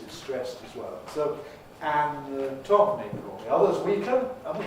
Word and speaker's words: anatomical: So the syllable stressed is going to be the tom, for ick, tomic. So that's going to have a strong vowel, tomical. We have a rule in